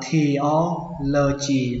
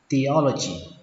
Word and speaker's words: theology: Mặc dù ở đây nó ghi là âm thờ nhưng mà các bạn phải đọc là âm tờ nhé, nó không phải là theology mà nó là theology. Âm e ở đây đọc là e, theology.